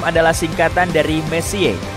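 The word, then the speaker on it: Messier: M adalah singkatan dari messie diucapkan Messi bukan Messi yang artinya lebih berantakan Charles messie persisnya adalah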